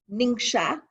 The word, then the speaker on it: Ningxia: ningxia province in china it's actually pronounced ningxia like n-i-n-s-h-a but a lot of